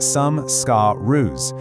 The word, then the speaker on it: samskara: They're called samskaras, that's pronounced sam-ska-rus, and they're basically these deep emotional impressions stored way down in your chitta.